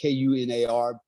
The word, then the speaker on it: Kunar: Because it's pronounced Kunar.